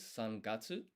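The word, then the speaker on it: 三月: So in Japanese, March is sun gatsu. And my pitch intonation might be a bit off there, but basically that's roughly how it's pronounced.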